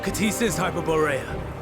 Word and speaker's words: Ktisis Hyperboreia: KTISIS Hyperboreia. Oh, that's how you pronounce it.